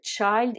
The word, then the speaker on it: child: scheid et children donc dans ce mot attention puisque au singulier le i se prononcent eux aïe c'est normal puisque dans l'alphabet anglais la lectrice ses leçons haye en revanche au pluriel le i se prononcent eux ils donc fait très attention dit child et children alors tout ce que